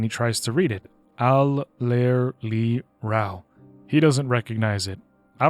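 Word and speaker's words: Allerleirauh: Al-ler-li-rao. He doesn't recognize it. I don't even know how to say this. Al-ler-li-rao? Ew. Alelaira.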